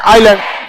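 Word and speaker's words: island: कहेंगे आइलैंड क्या कहेंगे आइलैंड ए इसमें साइलेंट है समझ में आ गया कि नहीं साइलेंट मतलब समझते हैं ना उसका को उसका उसको बोला नहीं जाता है बट वो रहता है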